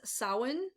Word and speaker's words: Samhain: water fire and ether the next holiday is samhain that is how this is pronounced this is also known as halloween of